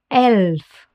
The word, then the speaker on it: Elf: Let's take a second here and focus on the E. Listen closely how it's pronounced in German. Elf.